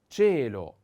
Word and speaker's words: cielo: Then cielo, cielo, cielo. Cielo, the accent is on the E.